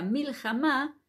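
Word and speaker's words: מלחמה: darles ejemplos por ejemplo Cómo se dice guerra en hebreo se dice milj o sea que la última letra es la letra He que bueno nosotros aquí no aprendemos escritura pero viene a ser como si terminara con a o sea mil jamá al terminar con una a es decir que es también una palabra aguda Entonces nos damos cuenta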